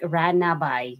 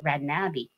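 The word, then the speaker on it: Ranaby: Or some people read it like Ranabai because the spelling is R A n a b y like ranabai. So but the correct pronunciation of my name is Rabi.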